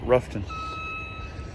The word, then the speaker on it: Rutherfordton: Based out of, it's pronounced, well, it's spelled Rutherfordton, North Carolina, but the locals call it Ruffton, North Carolina.